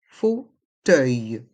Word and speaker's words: fauteuil: font le son o et les lettres e u i l font le son œil fauteuil roulant encore deux sons